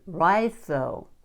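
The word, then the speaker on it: Raidho: It says pronouncing rhytho. Rhytho. You don't pronounce the D.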